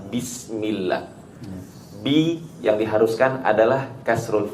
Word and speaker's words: بسم الله: harokat kasroh ketika pengucapan bismillah. Bi yang diharuskan adalah kasrul fak, ya, menekan rahang kita ke bawah hingga keluar suara kasroh. I, bi, bukan bi. Bismillah. نعم.